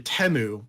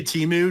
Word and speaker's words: Temu: so crazy I mean I purposefully am saying it wrong I think it actually temu the way they were saying in the commercials but I say teu just because I want